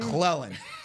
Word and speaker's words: McClellan: McClellan. You like to put a D in there. Yeah, you like to call him McClendon.